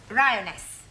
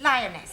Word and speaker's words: lioness: lion roness lioness roness no l l r r you're not saying it right very sorry I know try saying roness lioness good well in future every time you see an L pretend it's an R right Anna yeah feminine